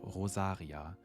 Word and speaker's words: Rosaria: Sister Rosaria, again a character without a surname, and if you wanted to pronounce it more German, you could say Rosaria. Rosaria.